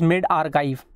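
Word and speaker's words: medRxiv: OK this Spike the report is called as mid archive but spells as m e d x r i v in small case it is its pronunciation is made archive okay this report does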